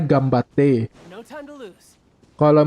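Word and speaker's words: 頑張って: Di Ganbate kan tulisannya kan Ganbate, bacanya Gambate.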